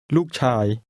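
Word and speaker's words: ลูกชาย: It's pronounced with falling and mid-level tones. Listen and repeat. ลู ก ช า ย ช า ย ลู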